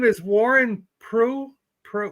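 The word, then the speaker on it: Proulx: go name is Warren pro pro p r o u LX how do you say p r o u LX just like that p r o u LX sounds like PR right Warren Warren PR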